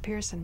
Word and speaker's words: Person: It's spelled like person, but it's pronounced Pearson because you're Swedish?